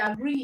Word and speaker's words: agree: about the verb agree is a verb and agree is a two cable word okay agree is a two syllable word so remember that rule that state